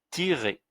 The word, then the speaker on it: tirer: Et ER, là, on l'a vu aussi dans les cours précédents, quand ER est à la fin, le son c'est E, comme pour les verbes à l'infinitif. Et tirer, c'est un verbe à l'infinitif. Donc, ça va se prononcer tirer, tirer.